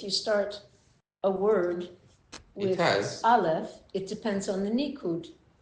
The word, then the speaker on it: Aleph: Do you know that Aleph it's like avocado? Yeah, but it's a silent letter. Yeah. But it's like A in English. Yeah, but it's silent. That's the part that makes it's. What do you mean it's silent? Aleph doesn't have a sound to itself.